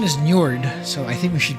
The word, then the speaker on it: Njord: So, the pronunciation is Njord, so I think we should go with Njord,